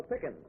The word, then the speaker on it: Pickens: This is Miss Lola Pickens. Rhymes with chicken.